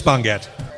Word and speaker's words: Bongat: He wrote, "My last name is pronounced Bon as in bonfire and Gat is in Gatling."